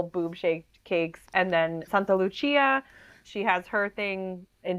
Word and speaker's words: Santa Lucia: know the northern Europeans but in Italian in Sicilian it's like Santa Luchia and then there's like